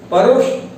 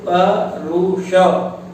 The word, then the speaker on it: परुष: है वह कैसा है, परुष यानी कठोर। देखिए परुष, कुछ लोग समझ रहे होंगे पहले कि सब पुरुष बोलना चाहिए, परुष क्या होता है। संस्कृत में परुष इस शब्द का अर्थ कठोर, और उद्दाम जिसे बांधना